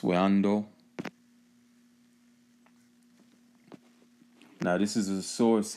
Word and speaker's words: Wando: Caroline carolina south carolina way on door okay pronounced window now this is a